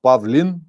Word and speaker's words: Pavlin: I'm not Pavle. I am Pavlin.